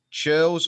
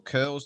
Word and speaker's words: churls: lands you had the richer churls or curls depending on your pronunciation and your peasants who